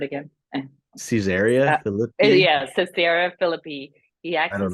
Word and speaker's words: Caesarea Philippi: yeah, Caesarea Philippi, he I asked don't his know.